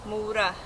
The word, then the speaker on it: Mora: as uh mura uh but in normal Swedish I guess it's a shorter o Maura this is a Maura